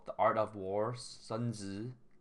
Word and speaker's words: Sun Tzu: I just found some a YouTube video called "The Art of War," Sun Tzu or Song Tzu. Sun Tzu is his Chinese pronunciation, but animated book summary.